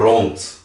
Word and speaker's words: rond: Por exemplo, rond. Ronde. Rond. Ronde. Então você pode ver que rond parece que é um T no final, mas se escreve com D.